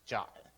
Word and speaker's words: JWT: was jwt's is pronounced jot kind of funny right weird because GWT was quit right I don't know why they got jot but it's actually in the specification for jwt's as like jot um we're also working